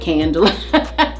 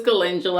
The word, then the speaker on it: calendula: me tell y'all something i didn't know until like literally yesterday how to pronounce that i was calling it candle and my girlfriend kylie's like no food was calendula i'm like oh okay